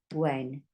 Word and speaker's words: when: We've got a silent letter here. We don't say hen, even though we got that word hen there. We just say n, when. That's silent. You have to write it, you have to spell it, but you don't say it.